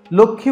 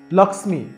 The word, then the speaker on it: লক্ষ্মী: এটিকে আমরা আর লক্ষ্মী উচ্চারণ করতে পারছি না। সংস্কৃতে এটিকে আমাদের উচ্চারণ করতে হবে লক্ষ্মী।